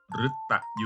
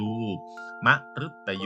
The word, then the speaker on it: มฤตยู: คำ ว่า มฤตยู มฤตยู สะอึก สะกด ตัว รึ ก็ ออก เส้น รึ รอ อยู่ รึ แต่ สะกด ด้วย ตอเต่า ตอเต่า อยู่ ใน มาตรา ตัว สะกด แม่ กด ก็ ออก สะกด คำ อ่าน คือ รอ อุดร ฤต เวลา อ่าน แล้ว คือ มฤตยู มฤตยู อา กะ สะ การ